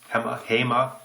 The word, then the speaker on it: HEMA: So, the blades from Danny van Rooyen, the HEMA blades, HEMA, as it's pronounced.